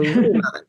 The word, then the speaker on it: RIMAN: Well and so here I'm going to give you a pro tip on how to remember the word because we were all saying it wrong too. So remon, so it means rebirth. So think rebirth, regenerate, renew, right? That's what remon means.